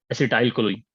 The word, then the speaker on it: acetylcholine: The spelling might be wrong. The pronunciation is acetylcholine.